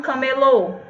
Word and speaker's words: camelô: Deserto montado nunca mesmo aqui a gente tem a palavra camelo que se refere a animal né É é mas se você disser viagem pelo Deserto montado num camelô e já é uma outra palavra e o camelô se